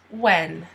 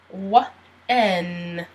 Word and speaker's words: when: When. Once again, you don't pronounce the H. When.